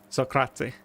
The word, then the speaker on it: Socrate: So at the end when you say the T at the end of Socrates, do you say a vowel sound after it or do you just end it on the T?